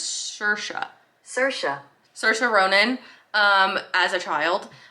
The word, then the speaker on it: Saoirse: Let's go back to my Google pronunciation, shall we? Saoirse? I'm pretty sure it's Saoirse.